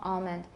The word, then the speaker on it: almond: I have valorization it's not a really complete L but I have the back of my tongue is getting tense so palm almond and I discussed this with some some of my colleagues in pronunciation teaching and they said oh don't teach that that's not standard not many people say